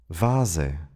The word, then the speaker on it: Vase: In lone words of Latin origin, the V is pronounced like an English. Here are some examples. vase.